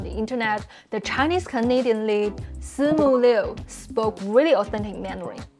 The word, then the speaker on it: Simu: For the I in si, we don't really move our tongue when pronouncing it, because it's not the same as I in B, P, Mi, Li, etc. And it's a different vowel basically when we say it.